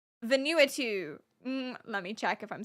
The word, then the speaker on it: Vanuatu: Venu. Let me check if I'm saying that right. Hold on. Vanuatu. Pronuniation. Vanuatu.